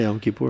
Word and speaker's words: Yom Kippur: Yom Kippur, is that how you pronounce it? Yeah, Yom Kippur.